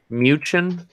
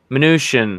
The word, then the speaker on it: Mnuchin: I don't know how you pronounce his last name. Mnuchin? Steve Mnuchin? Mnuchin, there you go.